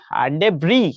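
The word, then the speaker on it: debris: আর কি এরপরে দেখো ডেব্রি ঠিক আছে এটা হলো ডেব্রি এটা অক্সফোর্ড এভাবে উচ্চারণ করে ডেব্রি শেষে যে এস আছে ওইটা উচ্চারণ করে না এটা হলো ডেব্রি ডেব্রি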